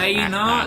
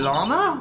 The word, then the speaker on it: Lana: love you too audience wait is it Lana no it's Lena oh that's why she used